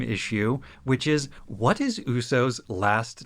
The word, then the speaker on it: Uso: Quick note that while they do pronounce it with slightly different emphasis, in Japanese, Uso means lie. Yeah. As in to tell a falsehood. In the Japanese, it's, instead of Uso, a lie, it's Uso.